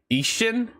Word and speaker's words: Ishin: The I's sound like E's, E's sound like A's.